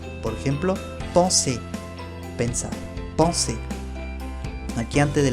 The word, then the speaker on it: penser: Ahora, si la S viene con una consonante antes, se pronuncia igual también. S. Por ejemplo, penser, pensar.